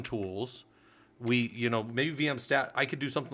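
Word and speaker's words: vmstat: If my system is saying it wrong, I apologize down here, but it's VM stat.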